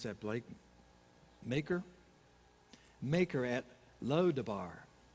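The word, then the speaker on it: Machir: of amiel son amiel's son how do you pronounce that blake maker maker at low to bar that's a mouthful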